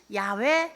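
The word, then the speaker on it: 야훼: 똑같은 이름이에요 여호와 하나님 야외 하나님 똑같은 이름인데 본래 발음은 야외 하나님 그래서 하나님이 가지고 계신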